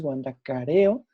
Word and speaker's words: Huandacareo: ir aquí a huandacareo es de huandacareo perdón la pronunciación es huandacareo donde tenemos la parroquia